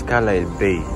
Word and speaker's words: Carlisle Bay: Is it Carlisle Bay? S is silent, or is it Carlisle Bay? I think it's Carlisle Bay.